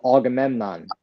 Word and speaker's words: Agamemnon: I can't pronounce his name. It was Agamemnon. Oh, Agamemnon.